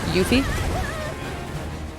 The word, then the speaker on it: Yuffie: That's how we pronounce it. Yuffie.